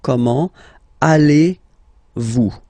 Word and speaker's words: comment allez-vous: So the first question, how do you do in French, is comment, so how, comment, allez-vous? And then, same thing here, little link between the two. Comment allez-vous? comment allez-vous?